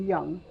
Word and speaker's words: young: o u n g did we hear this letter in the word the letter o it's a silent letter so how do you remember that we have the letter o in the word young you are young you